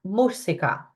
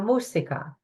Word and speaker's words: música: Accent in the U here this time. Listen to it carefully and try it after me. La música. La música.